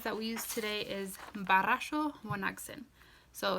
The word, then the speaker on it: barasho: One very common phrase that we use today is barasho wanagsin. So it's B-A-R-R-A-S-H-O. So barasho has a double R. Again, you're going to try to roll your R's there.